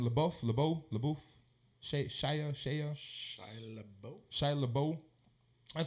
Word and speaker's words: LaBeouf: LaBeouf.